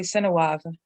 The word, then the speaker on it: Sinawav: Their word for the creator is Sinawav, and they don't usually pronounce the I. It's silent or very just kind of breathed incidentally, Sinawav.